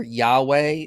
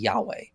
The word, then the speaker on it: Yahweh: But I think the most likely pronunciation is going to be Yahweh.